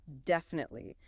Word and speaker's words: definitely: However, when you're focusing on clear articulation, aim for a clear pronunciation of each syllable.